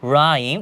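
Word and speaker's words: rhyme: নেই এখানে বলা হয়েছে রাইম উচ্চারণটা দেখি আমরা রাইম যার অর্থ হচ্ছে কবিতা তো রাইমের ক্ষেত্রে এখানে কিন্তু শুধু আর এর উচ্চারণ করা হয়েছে এইচ এর উচ্চারণ করা হয়নি আমরা রাহ এরকম কোন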